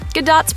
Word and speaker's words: Gadot: From having to clap back at body shamers to teaching everyone to pronounce her last name with a hard T, Gadot's press circuits have been rife with awkward exchanges.